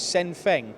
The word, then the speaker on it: SENFENG: his one sin thing is that how you pronounce the brand lewis sin thing yes they'll be a similar